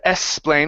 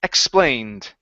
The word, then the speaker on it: explained: previously explained okay now on explained you need to pronounce a k sound there as well xplain okay instead of eslain with an S it's x x explained previously explained good job